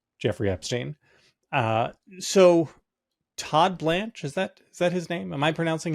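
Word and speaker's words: Blanche: Uh so, Todd Blanch, is that is that his name? Am I pronouncing his name correctly?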